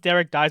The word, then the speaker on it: Derek Dice: known as Derek di it's pronounced Derek di but spelled Derek dice don't sweat it so